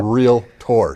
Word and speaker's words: realtor: And I say that as 2 syllables because half of my industry says realtor. Okay. And I tell you, it's one thing that bugs the heck out of me because no one rides their Trackator to their Docator, okay? It's a realtor, 2 syllables.